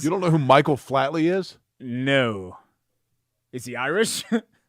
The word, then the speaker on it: Flatley: course you don't yeah it's because you're saying his name wrong it's Michael Flatley sorry whatever there's a